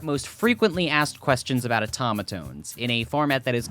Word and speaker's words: Otamatone: a terrible start yes it's pronounced Otamatone not otomatone or automatone but you know you